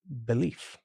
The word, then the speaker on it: belief: Another good example is the word belief. Oh, I see. Now, this does change a little bit because we changed the f to a v sound, and we changed the spelling, but our belief becomes to believe.